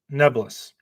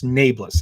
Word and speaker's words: Nae'Blis: clip of Robert Jordan saying, instead of Nae'Blis, it's Nebulous. Well, I just want to inform all of you guys that in this one occasion, Robert Jordan is wrong. He is pronouncing it incorrectly. It's Nae'Blis.